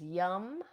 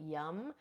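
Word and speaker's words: yam: Now the seed sound of the heart chakra is yum. Spelled y a um it's spelled y a m, but we pronounce it yum.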